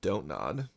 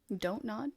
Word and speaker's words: Don't Nod: climbing exploration puzzle game from donut don't nod like do not nod do not nod the contraction of do not don't nod well there's no actual